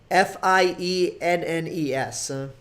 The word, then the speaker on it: Fiennes: It's his first name is spelled Ralph, but it's pronounced Rafe. And then Fiennes is and then his last name Fiennes is Fiennes.